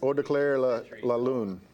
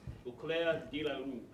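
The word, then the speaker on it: Au Clair de la Lune: And it is called, how do you pronounce that? I don't know. What year was it? French artist. Eau de Claire la Lune. Eau Claire de la Lune.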